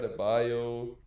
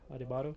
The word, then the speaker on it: Adebayo: not only the Peacemaker Adebayo, the Hmm.